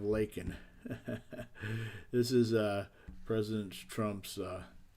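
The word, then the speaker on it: Laken: He even pronounced Lincoln Riley instead of Lakin.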